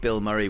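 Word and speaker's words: Bilmuri: um check them out not the actor Bill Murray but um you spell it b i l m u r i just really fun like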